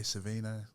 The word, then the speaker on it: Savino: yeah so what's up my name is sevino aka savino that's how you pronounce it no yes i do